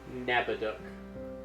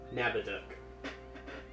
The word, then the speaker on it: Nabaduk: Nabaduk. Nabda. I'm gonna have to write down the pronunciation. Just think about someone stealing a duck, and you got it. Nabaduk.